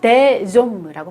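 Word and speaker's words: des hommes: 복수인 경우에는요. 데좀무라고 발음을 해요. 요거는 연음을 합니다. 왜냐하면 옴무의 아쉬가 무음 아쉬이기 때문에요. 연음을 해요. 데좀무, 데 팜무 이렇게 발음하시면 되겠어요.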